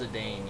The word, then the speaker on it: Zidane: Oh, and just for clarification, it's pronounced Zidane, you sheep.